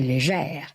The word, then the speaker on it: Léger: babinots, de Leblanc, Richard, Roy et Léger, prononcés légère, à l'ancienne, comme du temps où le français accentuait le R final.